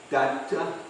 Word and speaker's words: Dutta: Datta? Yeah, in Bengal it's Datta. Like, Bhaktivinoda Thakur's name was Kedarnath Datta. Same last name. Datta. So Yeah. they say Datta, not Dutta.